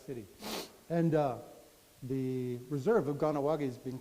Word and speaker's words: Kahnawake: This is our reserve, Kahnawake. When I was a kid, it was called Kakanawagha. I don't know why it's changed. Maybe that's the Brooklyn pronunciation, because a lot of my relatives were from Brooklyn.